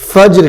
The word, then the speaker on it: فجر: فجر کی نماز. فجر فجر جیم کے اوپر جزم ہے تو اس لیے جیم ساکن ہے تو کیا کہیں گے؟